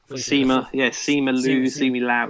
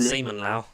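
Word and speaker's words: Simu Liu: Seema Lau, yeah. It's not Seaman Lau. No, Seemu, yeah, Seemu.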